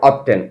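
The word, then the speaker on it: often: অথবা হাউ অপটেন? অনেকে এটাকে অবটেন উচ্চারণ করে।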